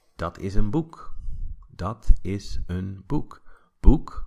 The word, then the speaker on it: boek: And you might say, dat is een boek. Dat is een boek. Boek, right? O-E, pronounced oo.